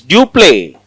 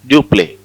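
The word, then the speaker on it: Dupleix: The governor of French East India Company is Dupé. Dup X is silent. Dupé is very powerful French governor.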